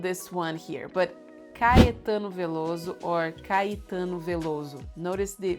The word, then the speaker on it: Veloso: one here, but Caetano Veloso or Caetano Veloso. Notice the Veloso. Sou eu, Caetano Veloso. The S will sound like a Z, Veloso, and the O will sound like U, Veloso.